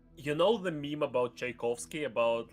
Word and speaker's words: Tchaikovsky: And I wanted to ask you how do you pronounce it actually because it's Tchaikovsky. Tchaikovsky.